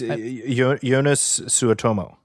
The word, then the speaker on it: Joonas Suotamo: I'm going to say his name incorrectly and I apologize, but Joonas? It's Joonas Suotamo.